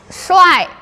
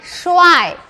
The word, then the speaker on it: 帅: This is I, 帅 This is 水 What's the meaning? This one? Yes, handsome Yes, so this is 帅 This is 水 Yes Okay 帅 and 水 Similar pronunciation, different Yes Okay, now from number